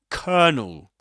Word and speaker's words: colonel: It's written colonel and it seems to be pronounced something like colell or colonel but actually it's pronounced as kernel.